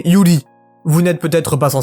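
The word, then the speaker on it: 百合: Pour en revenir au visuel, le lys blanc que nous voyons dans ce refrain se prononce en japonais Yuri.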